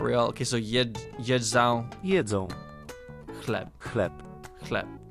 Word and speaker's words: chleb: Is a B low-key pronounced like a P? In Polish, a letter B is typically pronounced like a B. However, it is pronounced like a P due to a rule called final obstruent devoicing, whatever that means.